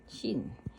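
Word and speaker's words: 쉰: sa kanila ay Shin shin ang swelling diyan ay swen swen pero ang pronunciation ay Shin Shin Shin Shin hanana shul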